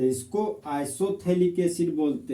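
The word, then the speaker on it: isophthalic: तो benzoic acid के Meta position पर अगर एक और कार्बोक्सिलिक एसिड लगा हुआ हो तो इसको आइसोथैलिक एसिड बोलते हैं, आइसोथैलिक एसिड। जहां पर पीएच साइलेंट होता है तो इस कंपाउंड को कॉमन नेम में आइसोथैलिक एसिड बोलते हैं।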